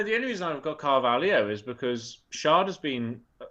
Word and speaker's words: Carvalho: Oh, I missed the R, mate. I'm really tired today. Carvalho. Said that then, and I was like, Cavallero. Yeah. Oh. No, the only reason I've got Carvalho is because Shard has